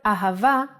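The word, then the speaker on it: אהבה: So, as I mentioned, hey can sound like both ha and ah. The word ahava uses it in both ways.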